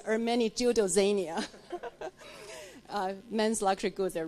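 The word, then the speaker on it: Ermenegildo Zegna: And importantly, because I'm on the board of an Italian luxury goods company, the correct pronunciation is Ermeni Giudozania.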